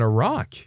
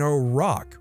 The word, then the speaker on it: Iraq: said your dad lives in Iraq.